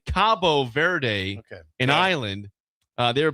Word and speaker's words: Cabo Verde: This was uh it looks like Cape the locals say Cabo Verde in Ireland.